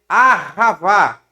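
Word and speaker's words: אהבה: hebraico, no Novo Testamento, o amor aqui em hebraico não é ágape, o amor no hebraico é ahavá. Ó, ahavá. Ahavá. Ahavá, que é no hebraico. Tá? Ahavá. No hebraico, o amor é ahavá.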